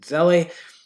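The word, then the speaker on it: Zelle: name is john velli i think it's actually pronounced zell but i pronounce it zeli it's available from the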